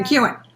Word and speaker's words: McKeown: Did I pronounce it right, Theresa? McKeown. Yeah, McKeown. McKeown. I pronounced it right.